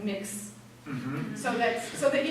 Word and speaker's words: Mx: they're going to add MX which is usually pronounced like mix so that so that